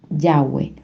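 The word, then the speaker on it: יהוה: Entonces fíjense ustedes que el nombre de Dios es en hebreo se pronuncia yagüe o las letras de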